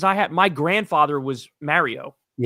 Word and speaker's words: Mario: The other one is um I always make fun they make fun of me because I say Mario. Like when we play Mario I say let's play Mario. They go it's Mario. I go it's not Mario.